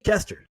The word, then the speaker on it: Koester: Hey, if you ever see her name, that's how you pronounce it, by the way, Koester. If you see her out in the world, it's Koester.